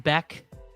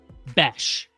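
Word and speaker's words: Bech: Crane said it's not pronounced Beck. It's pronounced something else. Gotta hit legs, bro. If you're not hitting legs, you're missing out. Besh.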